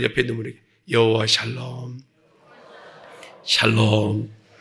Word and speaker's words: 샬롬: 샬롬. 발음을 잘해야 돼요. 살롬 그러면 어떤 분은 표현이 잘하셔야 돼요. 여호와 샬롬.